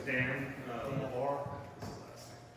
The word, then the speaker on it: LaBar: It's Dan LaBar. This is the last name. LaBar? Yep. How do you spell that? LAVAR. Gotcha. French? Yeah, but when you try to French it out, that's just LaBar.